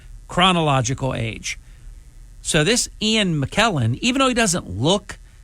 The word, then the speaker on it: McKellen: famous Ian mclelan and I think it's pronounced actually McKellen not mlen McKellen 85 years young